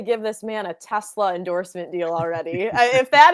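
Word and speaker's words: TeSlaa: The last like I I'll be the first to admit the last name looks like Tesla but pronounced Tesla.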